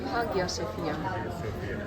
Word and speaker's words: Hagia Sophia: How to pronounce? Hagia Sophia. Hagia Sophia вони промовляють.